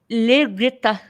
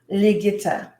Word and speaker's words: Ligita: first name is leg noita say it again liita liita yes liita it's pretty that's why I have yeah that's